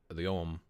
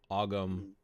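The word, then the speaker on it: Ogham: We see this a lot in druidry with the Om, Ogum, Oum, depending on how you want to pronounce it.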